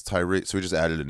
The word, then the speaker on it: Tyree: Dude, we had this guy named Dave Tyree. We were starting. But it was spelled T-Y-R-E. And everyone pronounced it Tyre. Yeah. And he was like, it's Tyree.